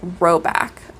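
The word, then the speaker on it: Rhoback: G4 um and that that is roback r h o back like the dog this brand has a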